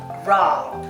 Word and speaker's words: raw: R-A-W. Raw. Let's start with raw. Try to make the R sound by curling your tongue back slightly without touching the roof of your mouth.